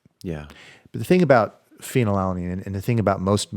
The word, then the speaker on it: phenylalanine: And phenylalanine. Phenylalanine. Yeah. Spelled with a PH. With a PH, like fat. It's totally fat.